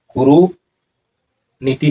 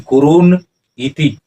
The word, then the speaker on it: कुरुन इति: और उच्चारण क्या होगा, कुरु नीति नहीं, कुरुन इति, इस तरह से।